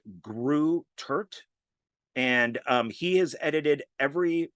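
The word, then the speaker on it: Greutert: So I think it's pronounced Kevin like Grew Turt.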